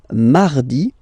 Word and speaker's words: mardi: Then mardi, mardi. So you can hear that you don't pronounce it that strongly, this R.